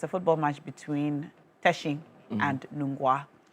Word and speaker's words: Teshi: Um this season, it's a football match between Teshi and Nunga. You said it's not Tishi. It's Teshi.